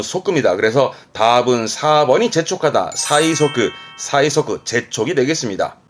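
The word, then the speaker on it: 催促: 재촉하는 의미지만 최자니까 음독으로는 사이 갈 거고, 촉자이지만 기본적으로는 족자니까 발음은 소끄예요. 족자의 기본 발음은 소끄입니다. 그래서 답은 4번이 재촉하다. 사이소끄, 사이소끄, 재촉이 되겠습니다.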